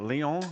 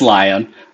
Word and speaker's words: Lion: and if lion is is that how you say his name is that Leon is it no it's lion but his full name